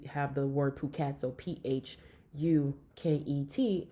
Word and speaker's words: Phuket: the word Phuket so pH u ket it's Phuket instead of Phuket because they don't pronounce the H and so you know